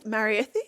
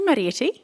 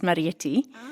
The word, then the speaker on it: Marethie: Marathi, is it right? Yeah. So, it's actually Marieti. Maretti. It's pronounced Marietti.